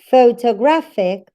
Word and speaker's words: photographic: Photographic. Let's see, you have here a stress and here another one. Photographic. This word has several syllables. Photographic. Gra here is the strongest syllable in the word. That's why it has the primary stress. Now, the syllable pho is the second one in strength. That's why it has the secondary stress.